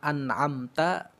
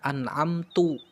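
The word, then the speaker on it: أَنْعَمْتَ: shathalladzina an'amta alaihim siratalladzina an'amta harusnya dibaca an'amta kemudian kita membacanya an'amtu Nah itu termasuk kesalahan yang fatal atau besar ya merubah harakat harakat fathah diganti dengan harakat dah an'amta jadi an'amtu ini adalah kesalahan yang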